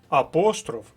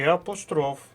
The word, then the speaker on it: апостроф: наголосу в українській мові може бути ще й подвійний наголос наприклад помилка і помилка мабуть і мабуть апостроф і апостроф деякі слова можуть вас загнати